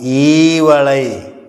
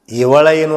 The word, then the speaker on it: ಈವಳೈ: ಅಂತ ಓದ್ತಾರೆ ಕೆಲವೊಂದಷ್ಟು ಅಲ್ಲ ಅದು ಈವಳೈ ಇವಳೈನು ಅಲ್ಲ ಯಾವಳೈನು ಅಲ್ಲ ಈವಳೈ ಅಂದ್ರ ಅದು ಮಂತ್ರ ಇದ್ದಂಗೆ ಅಲ್ಪಪ್ರಾಣ ಮಹಾಪ್ರಾಣ ಅನುನಾಶಿಕ ಹೃಸ್ವಸ್ವರ ದೀರ್ಘ ಸ್ವರ ಇವುಗಳ ಪರಿಕಲ್ಪನೆ ಇಟ್ಟಕೊಂಡು ಅವರು ಭಾಮಿನಿ ಶಟ್ಪದಿ ಒಳಗೆ ಬರೆದಾರೆ ಅದನ್ನ ತಪ್ಪಾಗಬಾರದು ಅದಕ್ಕ ಅದನ್ನ ಹೆಂಗೆ ಉಚ್ಚಾರ ಮಾಡಬೇಕು ಅಂದ್ರೆ ಈವಳೈ ಅಂದ್ರೆ ಈವಳೈ ಅಂದ್ರೆ ಕೊಡುವಳೈ ಈವಳೈ ಬೇಡಿದ್ದ ಬಯಕೆಯ ಆವ ಪ್ರಯೋಗಂಗಳಾದರೂ